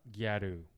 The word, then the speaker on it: Gyaru: And then I guess the Japanese took the pronunciation, Japanglished it. Yeah. Gyaru, 1972.